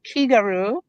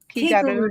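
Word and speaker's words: 気軽: pronounced Kigaru, Kigaru, Kigaru.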